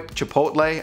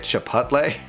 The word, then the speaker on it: Chipotle: thank you so much am i saying it right by the way chipotle i've been told that that's the way to say it not i used to say it chipotle apparently that's not how you okay chipotle okay next